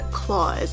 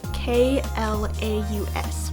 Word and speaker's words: Klaus: is kids movies but the movie is claws and it's spelled k-l-a-u-s it's a very interesting way to spell claws and i thought it was klaus for a long time before i actually saw the movie but this movie is